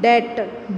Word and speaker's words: debt: Okay, but DEBT, det, B is silent.